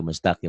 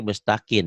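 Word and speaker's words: مستقيم: Nah, itu baru mustaqim. Kalau tadi mustakin ya. Hati-hati. Itu lupa nutup mulut. Jadi bunyinya jadi N.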